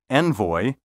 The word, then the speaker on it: envoy: The pronunciations envelope and envoy are pseudo-French. These words are thoroughly English and should be pronounced envoy and envelope.